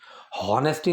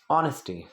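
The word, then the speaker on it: honesty: सो expecting ऑनेस्टी, हॉनेस्टी नहीं, इसकी pronunciation क्या होती है? ऑनेस्टी।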